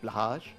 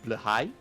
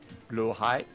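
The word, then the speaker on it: Blåhaj: Yes, I know it's not pronounced that way in the original Swedish. You don't speak Swedish either, don't you lie to me. I see you pedants in the comments. Out of curiosity, how is it pronounced in the original Swedish? I mean, I'm not a native Swedish speaker, so apologies if I get it wrong, but I believe it's more like blahai.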